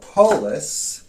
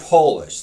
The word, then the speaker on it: polis: on moving on um so polis spelt p o l i s it's not polish like you might think it's greek that means city so like country man